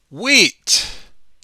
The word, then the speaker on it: wheat: it looks like this wheat the H is silent we don't pronounce it there is some wheat